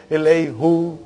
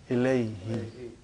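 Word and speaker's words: إليهِ: musical to your ears, we change who into he. What do you say? Ilaihi.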